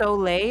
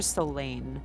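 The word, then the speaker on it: Soleil: will spell that yeah first name is it solay or soain soay the first one so s o l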